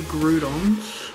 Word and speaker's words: Groudon: I mean, we got three Groudons, or if you're from America, you can't pronounce it properly.